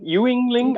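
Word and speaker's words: Yuengling: it's spell we well it's spelled it's spelled uh Yu n so Ying Yingling I mean if you didn't know what it was called you would probably try to pronounce it Yingling or Ying y Yingling whatever it's all right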